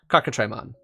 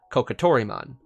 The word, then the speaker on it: Cockatrimon: this guy right here cockatrimon as in a cockatrice that's what it is not kokotoriman which is how you